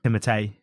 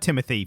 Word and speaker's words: Timothée: How is it meant to be pronounced? Timothée. Oh, really? I've heard Timothy for most people. Yeah, most people anglicize his name.